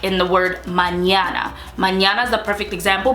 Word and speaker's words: mañana: an ear yeah so like in the word mañana mañana is the perfect example because it has